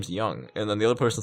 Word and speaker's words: Jung: said it but but I'm young nice to meet you June what the heck you have to pronounce names consistently if I said hi my name is young and then the other